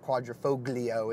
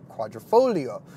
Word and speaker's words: Quadrifoglio: Alfa Romeo Stelio Quadrifoglio the G is silent and it's not Quadrifoglio it's Quadrifoglio as you say it